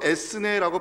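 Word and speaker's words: ἔθνη: 하나님을 믿지 아니하고 자기의 힘으로 문제를 해결하는 세상 사람들 갈때 성경은 보통 이방인이라는 단어를 쓰는데, 신기하게도 이 이방인이라는 단어가 헬라어로 에스네라고 발음되는 단어입니다.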